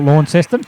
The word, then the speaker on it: Launceston: Launceston, mate, is a Tasmanian. You don't pronounce it with a W. Yeah, but we talk about it in New South Wales here, so we'll call it Launceston.